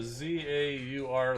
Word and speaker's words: zaur: so we've got uh update here on the pronunciation from super vh uh z-a-u-r like that so that's how you pronounce uh